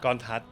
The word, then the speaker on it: Kornthas: - Isn't it Kornrathas? - It's Kornthas. - Who told me that name? - There's no "Ra" in the middle. Koraphat's Tutor's name. - Oh, right! - Mine's Kornthas.